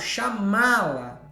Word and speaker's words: chamá-la: Neste caso, chamá-la, esse má é sílaba tônica, é sílaba forte, certo?